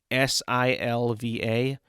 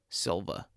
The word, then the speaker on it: Silva: I mean, it's just how you spell it is how you say it.